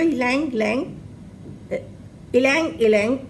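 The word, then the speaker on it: ylang-ylang: इसके different pronunciation है, जो उसकी स्पेलिंग है YLANG। तो ये है आपका इलांग इलांग, इसको बोलते हैं, मार्केट में इजीली अवेलेबल है।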